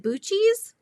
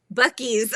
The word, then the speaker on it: Buc-ee's: Is it Bucci's? Super redneck, but it's a big deal down here. Did I say it right? I've never heard of that. Buc-ee's.